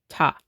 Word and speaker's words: ta: But the beat for both sections, for the divisions of 2 and 3, it's always going to be pronounced ta.